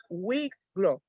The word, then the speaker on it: Wicklow: Y nos acompaña la Caminata Cósmica o el Jardín Cósmico de Wicklow, así se pronuncia, Sí, que está al sur de Dublín, en Irlanda.